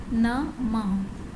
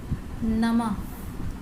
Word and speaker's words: नमः: अब अह की मात्रा जब हम किसी लेटर पे लगाते हैं तो उसका प्रोनाउंसिएशन कैसा होता है। जैसे नमः, नमः, प्रातः, प्रातः, तह, मह, नह, इस तरीके से आपको इसको पढ़ना है, ठीक है, और इसे ट्रेस भी करना है।